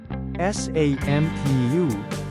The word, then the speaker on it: sampu: SAMPU is 10 in Tagalog. Change A to AH and U to OOH, then pronounce it as sampu. Let's do it one more time.